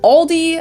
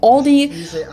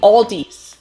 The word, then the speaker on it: Aldi: heard aldi before but i think most people say aldi or they also oh no or they also sometimes add an s that isn't there in the end and say all these really oh yeah i